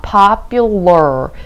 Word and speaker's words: popular: 자, popular, L-A-R, 즉 R 발음이 조금 확실하게 끝까지 들려야 될 것 같아요.